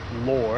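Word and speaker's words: Lohr: all the way from lower after I believe it's pronounced l-o-h-r and you come all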